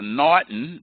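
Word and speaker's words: M'Naghten: take them one by one known as the Naughton that's the way you pronounce the apostrophe D in HGH TV it's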